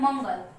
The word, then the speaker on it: मंगल: देखिए जैसे बताते हैं मंगल, मंगल, चंचल। जब इसका उच्चारण हम लोग करेंगे मंगल, तो इसका उच्चारण नाक पे ज्यादातर जोर जाता है, तो इसीलिए अंग को